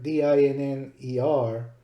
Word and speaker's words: dinner: In dinner, D-I-N-N-E-R, we see two consonants in between vowels. This makes both vowels short. So in English, this is pronounced dinner.